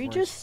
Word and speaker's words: egregious: I can't pronounce it. Egregious?